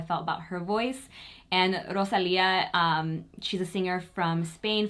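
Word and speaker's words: Rosalía: I am currently loving Rosalia, I believe is how you say her name, not Rosalia. Rosalia.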